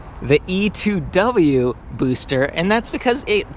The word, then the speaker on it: E-TWOW: I asked them I was like isn't it etwow that's what I said during the review that's what it spelled like I mean look e t wow but no apparently no it's pronounced e2w I am done with that name I'm so